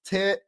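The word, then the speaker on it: Tyrion: The Vikings Saturday added a versat versatility to versatility to the defensive front by selecting former Georgia defensive lineman Tarian pronounced tyen. Okay, so it's Tyen.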